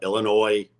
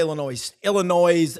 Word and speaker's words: Illinois: I know you're going to watch Auburn play Illinois State. I love when people pronounce it with the S. It's It's a silent S, like the E on the end of Brown.